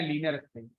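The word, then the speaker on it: linspace: तो लीनियर स्पेस नाम का फंक्शन है, मतलब फंक्शन नाम है लिन स्पेस, इसको हम प्रोनाउंस करते हैं लीनियर स्पेस।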